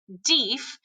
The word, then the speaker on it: Deaf: One of Houston's scouts is an incredible man named Erastus, or Deaf, although he pronounced it Deef, Smith.